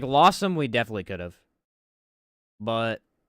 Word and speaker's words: Losomn: I believe the correct pronunciation is actually Losomn. I always say Losomn, because I don't care. That's how I say it.